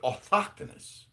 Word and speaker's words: autochthonous: So then I learned that you could pronounce it autochthonous. Autochthonous. It's almost like the T is silent. And the H is the fucking go-to, which is abnormal, right?